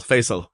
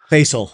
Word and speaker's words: Faisal: That's the way to pronounce it in Arabic, but it's it's the easiest way to remember my name is Face with Al. Faisal. Faisal.